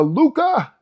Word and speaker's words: Lucca: I'm English, but I did do a little research and realize it's called Cappello and Lucca. You got to pronounce it because there's two C's.